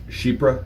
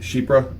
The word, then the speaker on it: Chypre: a huge fan of sheep breath sets so si si hy r PE p re excuse me it's pronounced sheep bruh it's a French derivative of the word Cypress not necessarily for the